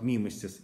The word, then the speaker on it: мимесис: Помните, что в словах мимесис и катарсис ударение на первом слоге.